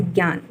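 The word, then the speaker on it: Jnan: Here, Gyan spelling is Gnan. It is pronounced as Gyan.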